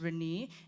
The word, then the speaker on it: Rene: So there's a common misconception of how my name is pronounced. My name is Rene, and maybe the frog should be named Rene.